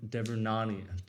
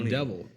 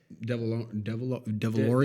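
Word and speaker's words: Devaronian: Because I get he spared Bill Burr and the Twi'lek girl, but the Devernani, I don't know how to say it. I thought it was a Deveroni. Devilorian. There's no L in it, but he I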